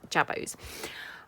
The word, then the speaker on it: jabot: we are making jabos they are spelled j-a-b-o-t-s so apologies if I have pronounced that wrong but I think they are pronounced jabos um they look like